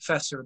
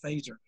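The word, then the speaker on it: Feser: i mentioned a phaser f-e-s-e-r it looks like fessor but it's pronounced phaser he's a good secondary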